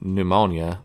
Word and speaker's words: pneumonia: Yeah, the M is silent, kind of like in pneumonia. The P is silent for some reason.